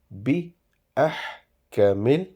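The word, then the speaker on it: بِأَحْكَمِ: Alaysallahu bi ahkamil. So do not prolongate these alphabets.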